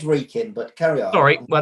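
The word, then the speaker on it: Wrekin: was representing telford and reckon the local liberty democrats were the ones it's pronounced reeking but carry out sorry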